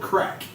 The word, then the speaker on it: Krak: It's called Crack.